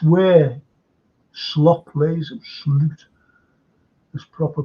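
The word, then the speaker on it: Slot: to step up and it's where slop plays slute this proper pronunciation it's where he plays him so I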